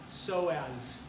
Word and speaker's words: psoas: ilium and then the psoas major you don't pronounce the pain another sign of P so as so as major there's a bursa so as